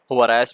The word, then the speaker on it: Juarez: है उसने call of Boris, basically ये चूँकि मैक्सिकन नेम है, हुआरेस भी कहते हैं, हुआरिस भी है। हुआरिस I think is the closest pronunciation to इट।